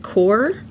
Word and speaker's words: Qor: i've never used before i think you pronounce it core qor anyway uh you